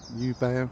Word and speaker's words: Jubaea: Or Jubaea as I think it's pronounced properly.